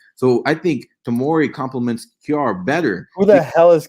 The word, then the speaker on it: Kjaer: I think it's Kayer or something like that. Kayer?